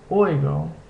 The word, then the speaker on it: oigo: Next is this combination OE, which makes a similar sound to the English word boy, such as in the word oigo, which means I hear.